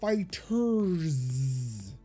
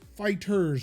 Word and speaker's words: FighterZ: WWE 2K23 Descenders and Dragon Ball FighterZ. It is Fighters, right? It's not Fighter Z. Yep, it's Fighters, but it's spelled with a Z because Dragon Ball Z.